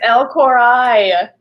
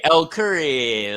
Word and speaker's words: Curry: It's El Corai. El Corai, El Curry. Look at me.